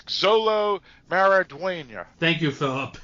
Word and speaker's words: Xolo Maridueña: And Exlo. Actually, that's Xolo Maridueña.